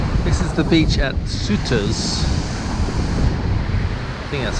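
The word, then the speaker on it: Sauteurs: in their beach this is the beach at suitors that's how you pronounce it I'm the very north of Grenada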